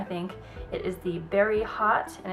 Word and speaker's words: Haute: it is the berry hot and it's spelled hot like h-a-u-t-e and it's a cream